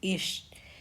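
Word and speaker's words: ich: हिंदी में जिसको हम मैं कहते हैं और जामन में हम उसको इश कहते हैं। इश और हिंदी में हम तुम कहते हैं।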